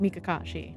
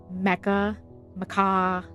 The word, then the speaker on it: Mikashi: Listen, so my name being pronounced Mikashi, right? I get Mecca Maca.